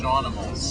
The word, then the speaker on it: Shaunimals: Shaunimals. Shaunimals. Yeah, like animals, but Shaunimals.